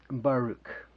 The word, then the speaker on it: Baruch: Well, Baruch, like in a bar where you go to have a beer, Rook.